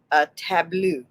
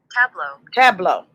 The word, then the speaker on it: tableau: Okay, is that the right way to say it? I just say like they're playing cards or whatever. Let's make sure that's the right way to say it. So let me see. You know what's going to happen. They're going to take me to where I don't want to go. Okay, nope. Tableau.